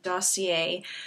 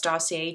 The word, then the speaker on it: Dossier: do not know dossier i like to pronounce them as dossier just to keep it a bit more french um dossier is basically